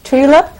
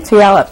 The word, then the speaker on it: Tulalip: West Coast now Oregon is it Tula is that how you pronounce that I'm from Puyallup Washington Tulalip go ahead um first